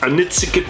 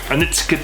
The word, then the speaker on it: Onitsuka: And then we have a Onitsuka Tiger. That's how I'm going to say it. Hopefully I'm pronouncing it right. Any of my Japanese subscribers, can you rate me down below how I pronounce Onitsuka Tiger.